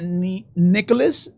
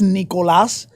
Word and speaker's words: Nicolas: Nick and I really my name is not Nicholas it's Nicolas so I decided just